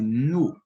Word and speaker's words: nu: Veja a diferença de pronúncia das duas palavras. Na primeira, eu pronuncio com menos intensidade, nu. Já na segunda, devido ao acento agudo, que é esse tracinho aqui para cima, para a direita, eu pronuncio com mais intensidade. Então, passa a ser nó.